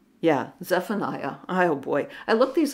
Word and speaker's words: Zephaniah: next uh model up is Benjamin uh Zep zephani yeah Zephaniah oh boy I look these up phonetically and then I have to say them